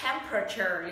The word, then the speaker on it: temperature: Từ này không đọc là temperature, nhiệt độ, mà nó đọc là temperature. Lý do là nó chỉ đọc 3 âm tiết thôi. Không phải là temperature, mà là temperature các bạn ạ.